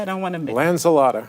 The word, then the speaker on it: Lanzilotta: I don't want to make Lanzilotta. Lanzilotta, an environmental artist Thank you, yes.